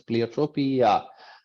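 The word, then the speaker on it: pleiotropy: the same functional outcome play trophy uh different people pronounce that differently I pronounce it as pleiotropia um the pre-appropy is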